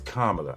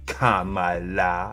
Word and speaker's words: Kamala: So it's Kamala. I get it. All right. Respect. Won't mess up that name no more. Kamala.